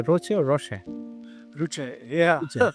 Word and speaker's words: Roochay: How do you say, Roochay or Roochay? Roochay, yeah. Right. Yeah, I was trying to read it French. There are many pronunciations, but yeah.